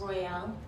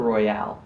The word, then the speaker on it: Royale: Royale. Royale? Yes, like royal with the e. Royale. Better. Royale or Royale?